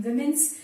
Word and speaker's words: women: She is an independent researcher in women's studies since the past 30 years and has several publications to her credit.